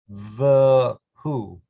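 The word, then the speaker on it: וְהוּא: Emphasizing the vav. It is a vav. It has 2 dots below it. It is pronounced v, v'hu. This vav has the u vowel, therefore it's an u, v'hu, v'hu yeh, v'tif ara.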